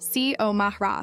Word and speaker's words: Xiomara: Xiomara Rodriguez? She pronounced it perfectly. C-O-Mah-Ra, clear as a bell.